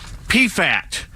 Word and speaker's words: Pfaadt: The 7-4 Max Fried against the 3-6 right-hander Brandon Pfaadt for Arizona. P-F-A-A-D-T. How the blank do you pronounce it?